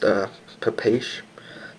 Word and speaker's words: Papaiz: Looked it up, I guess it's pronounced puh-paysh, something similar to that.